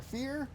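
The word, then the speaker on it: vier: going to call now because the german pronunciation of fours not how i know how americans would say it in american language uh it's fear it it sounds like fear it's a mix between fear and for that's how the is is what it sounds like in german i don't think my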